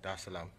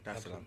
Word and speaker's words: Dar es Salaam: of the 7th, to come straight to Tanzania, Dar es Salaam. Did I pronounce that right? Dar es Salaam.